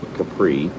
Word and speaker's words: Caprice: Thus, it's not Caprice, it's Capri. The C is silent.